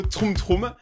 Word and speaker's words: Troom Troom: Aujourd'hui on se retrouve pour une nouvelle vidéo là où aujourd'hui on va regarder des vidéos Troum Troum. Je l'ai bien prononcé cette fois-ci.